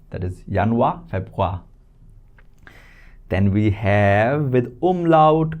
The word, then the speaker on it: Februar: Febu sound and a is kind of silent right? Febwa that is yanwa febwa.